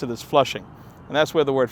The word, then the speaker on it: Flushing: These early settlements were Newtown, Maspeth, Jamaica, and Flushing.